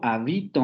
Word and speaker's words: habito: Yo habito mi casa, habito, con el acento en vi, habito, yo habito mi casa.